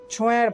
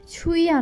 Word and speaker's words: ছোঁয়া: ছোঁয়া মুখ ফুলিয়ে বলল, আমার নাম ঠিক করে উচ্চারণ কর, আমার নাম ছুঁইয়া না ছোঁয়া, সুন্দর নাম।